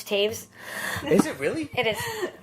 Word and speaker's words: Taves: I say Taves because she rhymes with Chavez, and in Mexico that sounds better to me, but it's Taves. Is it really? It is, isn't it? I've been saying Tavis English for teacher years.